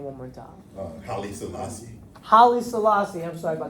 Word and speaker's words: Haile Selassie: Haile Selassie.